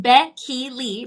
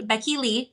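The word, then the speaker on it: Bekily: It's pronounced Becky Lee. Becky Lee, kind of like a name like Becky and then the middle name Lee, but it's spelled different, but it is pronounced Becky Lee.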